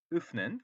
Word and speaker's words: öffnen: 요거 발음 우리 공부했죠? 왜 하고 다르죠? öffnen ich kann das Paket öffnen 그죠?